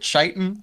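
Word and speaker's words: chitin: of course of course is that how you pronounce it chitan uh yes that's what I was taught when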